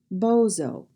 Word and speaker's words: bozo: but oh oh bozo a two syllable word with the accent on the first syllable bozo it is a classic American clown and the last word